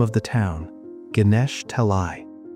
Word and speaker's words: Ganesha Talai: He looks at the name of the town, Ganesha Talai. For 25 years, he had been mispronouncing it as Ganesttoi.